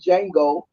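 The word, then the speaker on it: Django: then he's like showed Jango and everybody started clapping he said the D is silent and then he show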